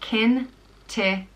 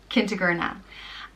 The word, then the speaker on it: Kentigerna: The next name is Kentigerna, and it means kind ruler, and it's pronounced Kentigerna. Kentigerna.